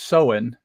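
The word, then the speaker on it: Samhain: the holiday is pronounced sohen and it's spelled s-a-m-h-a-i-n but it's pronounced Sohan and I I'm gonna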